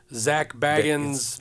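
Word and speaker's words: Zak Bagans: this time and we went out to the Zack baggin is how you say Zack baggin like his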